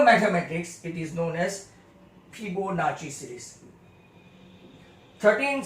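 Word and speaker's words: Fibonacci: इसका प्रोनाउंसिएशन नाची है, नासी नहीं है. फिबोनाची series, right.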